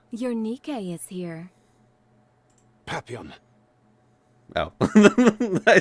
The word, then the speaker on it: Papillon: Papillion. Your Nikke is here. Papillon, Oh. I said her name wrong.